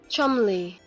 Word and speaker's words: Cholmondeley: Chumley. Ah. Chumley. It sounds like he's saying chumly. Like we're very chumly.